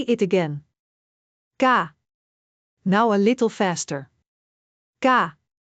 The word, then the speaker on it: K: Ga. Similar to the English K in kite, but slightly sharper. Listen carefully. Say it with me. Ga.